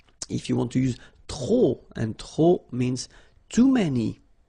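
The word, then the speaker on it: trop: If you want to use tro and tro means too many okay then you will have to put the and the noun without the article. Okay remember too many don't pronounce the final pay to the and the noun without the article.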